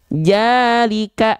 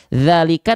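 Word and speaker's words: ذلك: Jalika, harusnya kita baca zalika tapi kita baca jalika.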